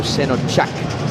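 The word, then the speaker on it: Şenaçak: of Turkish descent, and the C in Turkish is pronounced like CH, so Senachak.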